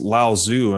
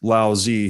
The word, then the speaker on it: Laozi: different pronunciations yeah and i've always read him pronounced lao zoo in other texts so i guess lassie yeah so we'll go with lao zee here so from lao zee who wrote the